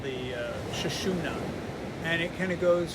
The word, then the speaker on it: Sushumna: And it's usually thought of as a white tube and is pronounced something like Sushumna or central channel.